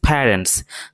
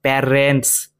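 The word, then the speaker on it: parents: plural form রয়েছে কেননা subject এখানে প্লুরাল হিস প্যারেন্টস তার এখানে বাবা মা দুজনকে একসঙ্গে বুঝাচ্ছে এই শব্দটি উচ্চারণ কিন্তু প্যারে নয় প্যারেন্টস প্যারেন্টস প্যারেন্টস ওকে এই শব্দটির উচ্চারণ কিন্তু ওরিড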